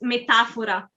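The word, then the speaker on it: metafora: italian uh the x it's the same but it the the accent is slightly shifted so in italian it's metaphora so the accent is on the a but yeah i think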